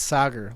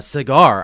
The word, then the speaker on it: Sagar: This guy, just you guys know, I went to It's Sager. Like soccer.